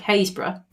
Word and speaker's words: Happisburgh: Okay, is if you just look at things like Haysborough, actually spelt Happisburgh, Wyndham would be Wymundham.